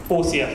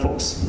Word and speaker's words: FORCS: Yeah, 4CS, not Fox, like 4CS.